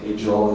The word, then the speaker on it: Agel: this infrasario this new kind of publisher, Jerome Ael is how I know now know pronounced his name.